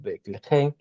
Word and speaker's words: Betlehem: Entonces, Betlehem, casa de pan, que se ha traducido como Belén, pero es Betlehem, se dice que allí fue donde murió Rachel, que aparece en Génesis 35:19.